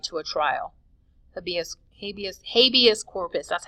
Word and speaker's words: habeas corpus: Habeas corpus, that's how you say it, habeas corpus.